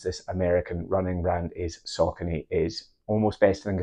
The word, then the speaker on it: Saucony: some of you might be wondering why I'm pronouncing the brand s because you might have heard others say sakone or sa without going into all the history